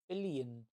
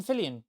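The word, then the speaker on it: Fillion: It'll either be David Tenant or Nathan Fillian. What about you, David or who? Nathan Billian. He's um uh Have you ever seen The Rookie? Um what else does he do? He's in um Yeah, Nathan Fillian.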